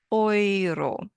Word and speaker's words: Euro: It's pronounced oiro because eu always sounds like oi.